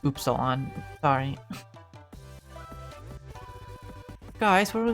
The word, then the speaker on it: Upsilon: Actually, it's pronounced Upsilon.